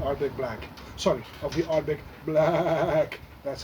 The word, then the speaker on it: Ardbeg BlaaacK: edition of the Arctic Black Sun of the Arctic black that's how you should pronounce it hence anyway a lovely lovely new